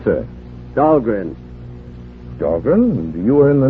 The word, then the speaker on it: Dahlgren: Of course, they mispronounce it down there. Dahlgreen, they say, but still named after me. But at Annapolis, the Midshipman's Armory, they call that Dahlgren Hall. They pronounced it right, Annapolis.